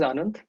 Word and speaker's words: Anand: said exactly rightly i mean my name is anand and i would have expected you to pronounce it perfectly correctly and there was no